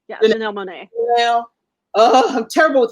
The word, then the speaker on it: Janelle Monáe: Janelle Monáe. Yeah, Janelle Monáe.